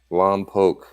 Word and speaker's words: Lompoc: it you don't know how long poke is pronounced Lompoc it means it means swamp I'm made of